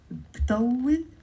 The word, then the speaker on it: بطول: So, بطول, 2 syllables.